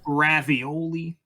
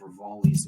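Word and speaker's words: Revali: No, I wasn't expecting like ravioli. Ravioli? I wasn't expecting Fish Girl. I wasn't expecting What the heck is Barbosa. ravioli? It's like a common intentional mispronunciation of Rivali's name.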